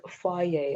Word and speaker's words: Fage: Now my go-to meals, I love having, the fire yogurt. How do you Okay, spell it? it's like Fage. Oh, is it It's German? yeah. They even put on the package, it's pronounced fire.